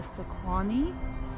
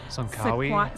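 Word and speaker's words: Tsankawi: Right behind us is the Sequani. Say it right. Sunkawi.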